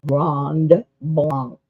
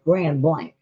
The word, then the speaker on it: Grand Blanc: Now, in Michigan, they do not pronounce this the way it would be somewhere else. If you live somewhere else, that would be pronounced Grand or Grand Blanc.